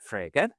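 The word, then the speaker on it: Frege: Uh, you know, but Frager Gotlob Frager.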